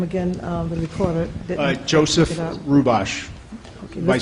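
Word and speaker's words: Hrubash: Joseph Rubosh, Okay, Vice spell that President.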